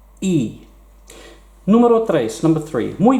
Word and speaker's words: y: it is a word it means and and it's pronounced e numero tres number three